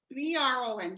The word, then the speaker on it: Bron: me Bron. B-R-O-N.